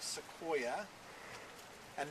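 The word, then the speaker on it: Sequoyah: into a written language his name was seoa and it ended with a y a it's spelled a little differently than the genus but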